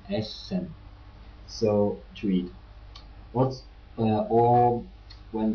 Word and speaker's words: Essen: When you spell a double S, you pronounce it with a soft sound, like in Essen.